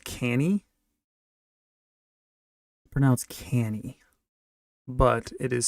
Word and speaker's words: Cannae: And this was at the Battle of, it's pronounced Canny, but it is spelled Battle of, it's like Cannae or something. Yeah, Battle of Cannae, Battle of the Second Punic War.